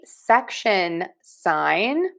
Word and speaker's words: section sign: Now we have the section sign. And that is pronounced section sign. Section sign. Section sign. Section sign. Section sign. We are stressing syllable number one.